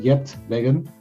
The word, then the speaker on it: Geert Weggen: us where you're from my name is uh yet vegan i pronounce it in the english way i'm from dutch from